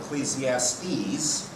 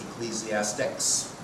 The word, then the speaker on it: Ecclesiastes: So we have Ecclesiastes, which some people wrongly pronounce Ecclesiastics.